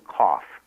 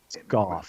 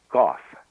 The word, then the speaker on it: Goff: a woman named Susan Kauf. I hope I'm pronouncing it right. Goff. There you go. It uh it rhymes with cough. Susan Goff.